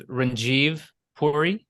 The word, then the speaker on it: Ranjeev Puri: My name is Ranjeev Puri, first name Ranjeev, last name Puri, Puri, and I'm a state representative in Michigan's 24th House District.